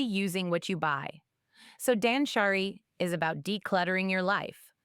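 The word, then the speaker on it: 断捨離: Habit number seven, Dansshari. It's pronounced dansshari.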